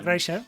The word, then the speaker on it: Kreischer: Bueno, se pronuncia Kreischer.